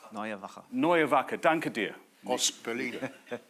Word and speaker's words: Neue Wache: Neue Wache.